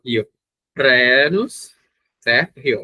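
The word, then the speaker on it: Rhenus: Na verdade, vocês podem pronunciar, quando nós temos um RH, nós temos um R e uma aspiração. Então vocês poderiam pronunciar renos, que é a forma adequada, mas vocês também podem pronunciar sem a aspiração. E geralmente a aspiração causa um certo grau de dificuldade na pronúncia em português. Então você pode dizer renos.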